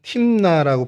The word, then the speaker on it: 딤나: 어 딥나는 히브리어로 그냥 팀나라고 발음을 하는게 이제 어 정식 발음이고요.